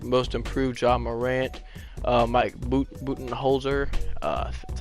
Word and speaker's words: Budenholzer: Mike Budenholzer, that's how you say his name, is coach of the year.